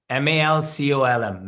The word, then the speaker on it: Malcolm: Malcolm. Malcolm. Malcolm. The second L is silent. Colm. Malcolm.